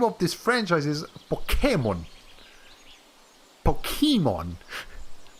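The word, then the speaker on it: Pokémon: yeah i'm pretty sure in japanese they say pokemon or pokemon pokemon yes as they say it sounds like that they don't accentuate this part ah yeah yay the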